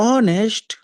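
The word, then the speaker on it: honest: आप कहेंगे एन आई एम एन एन में ईमानदार में इज साइलेंट होता है। तो आप कहते हो ऑनेस्ट अ ऑनेस्ट इसीलिए यहां पर आप एन का इस्तेमाल करेंगे।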